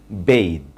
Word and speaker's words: bathe: বেদ মানে গোসল করা, যেটা একটা ভার্ব, এবং BATH যেটা একটা নাউন, সেটার প্রনাউন্সিয়েশনটা বাথ। বাট BATHE এটার প্রনাউন্সিয়েশন বেদ, বেদ, বেদ।